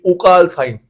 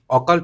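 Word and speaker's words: occult: কেউ কেউ এসে বলে তার উচ্চারণটা হচ্ছে ওকাল সায়েন্স। ওকাল, ওকাল হয় না, ওকাল্ট অকাল্ট বলে, বা অকাল্ট।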